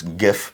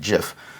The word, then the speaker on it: GIF: For those that want to pronounce it incorrectly, it's GIF, but it's actually GIF.